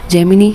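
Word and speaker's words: Gemini: जैेमिनी हमारा Google का Google का है। जेमिनी कह दो, जेमिनाई कह दो एनीथिंग डिप डिपेंड करता है एव्री इंडिविजुअल के प्रोनाउंसिएशन पे।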